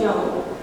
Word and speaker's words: Job: It's pronounced Job, and it's the story of a man who suffered greatly, yet passed the test.